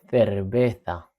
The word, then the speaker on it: cerveza: La cerveza. Sí, la cerveza. Sí. Hay que vigilar porque como sabéis la C lado de la E suena como una Z, ¿vale?